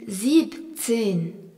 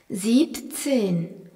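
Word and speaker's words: siebzehn: E h N 16 17 se dit Zibtin en enlevant le en qui est à la fin de Ziben. Deep tin s i e b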